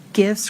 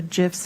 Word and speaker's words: GIF: It is with a soft G, not the J type sound.